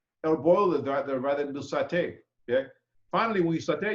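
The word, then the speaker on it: sauté: The word saute, pronounced saute, refers to a form of dry heat cooking.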